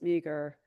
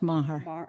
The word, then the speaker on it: Maher: I've been wanting to come speak, or at least ask Ms. Meager. I'm sorry, It's pronounced Maher.